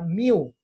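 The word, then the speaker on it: μ: Esta H al revés es una letra griega que se pronuncia mu, ¿sí?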